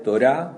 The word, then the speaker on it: Torá: El nombre Torá, así, sin H, sin nada, es Torá, con acento en la A, significa instrucción o enseñanza, y esta es una palabra del ámbito del culto, ¿no?